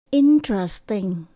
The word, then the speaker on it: interesting: Interesting.